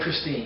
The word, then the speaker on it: Christine: I love that name, Christine. Oh, yeah, it's a wonderful name. Rhymes with dream, okay.